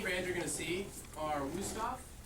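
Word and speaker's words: Wüsthof: you're gonna see are wusthoff technically if you want to be correct in german they pronounce their w is like a v stop but who's not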